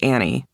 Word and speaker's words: Anne: he asked, pronouncing my name the way it's spelled. "Yeah, but it's actually pronounced Annie."